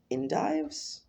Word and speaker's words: endive: Just found a place with really fresh endives?